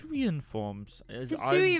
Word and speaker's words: Hisuian: Hisuian forms. I'm still going to say that is how you pronounce it.